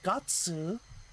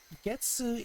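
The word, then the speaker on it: 月: So when you use gatsu, specifically they're talking about months. So gatsu is the special pronunciation of this. Hey, off. I have a small plate of rotisserie chicken. My cat was trying to sneakily get close and grab a piece. So the gatsu pronunciation is denoting that it's a month, whereas getsu is talking about month-related things.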